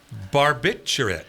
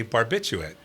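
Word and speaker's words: barbiturate: Barbbiterate. I've always and will continue, by the way, to say barbituate with the um just the naughty word right there in the middle.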